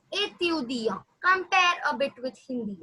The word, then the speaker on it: étudiant: Yeah, as I told you, T is silent. As I have already mentioned you before, that the last letter in French is always silent. But again, étudiant, which means a student.